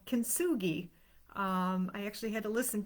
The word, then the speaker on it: kintsugi: It is a Japanese technique called kintsugi. I actually had to listen to the pronunciation because the spelling is K-I-N-T-S-U-G-I, kintsugi.